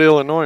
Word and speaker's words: Illinois: I mean, they surely- call it Illinois, and there's a big old S right on the end of it. Yeah. I'm just saying. Oh, it's silent.